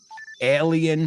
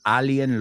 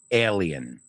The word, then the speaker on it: alien: Future, adventure, with an intelligent, wisecracking alien ship. Y sé que alien lo conocéis la palabra, pero nosotros lo pronunciamos alien, not alien, right? It's ale, like the beer, ale, like that, right? Alien.